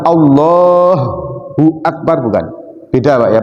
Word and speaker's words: Allahu Akbar: menjadi ha yang ditasdid padahal Allah itu hanya tidak ditasdid Allahu Akbar bukan Allahu akbar Bukan beda Pak ya